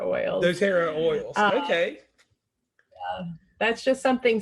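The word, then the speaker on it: doTERRA: and could you tell me about how to pronounce the name of the oils oh dotera oils dotera oils okay that's just something separate that I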